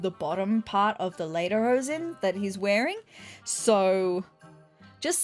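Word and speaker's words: Lederhosen: I just need to know how to pronounce it. Okay, so they're later hosen. I'm so sorry for pronouncing them incorrectly this entire video, but I was correct.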